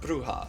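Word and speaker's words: Brujah: make me feel better it's pronounced bruha I see so I didn't know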